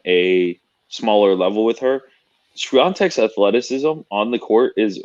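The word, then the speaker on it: Świątek: The way people have been pronouncing it, it's Swiatek. Swiatek.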